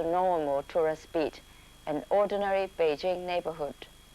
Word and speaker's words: Beijing: site in sounds of Peking or as the official pronunciation goes Beijing is not only the